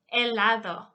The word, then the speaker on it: helado: So the word helado, ice cream, the H is silent. Helado, silent H.